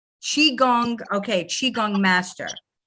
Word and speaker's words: Qigong: Qigong. Qigong, okay, Qigong master.